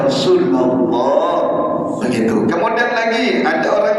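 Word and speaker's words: رسول الله: Jadi kalau ada orang baca ya Rasulullah atau ya Rasulillah, salah bacanya walaupun artinya sama. Yang betul ya Rasulullah.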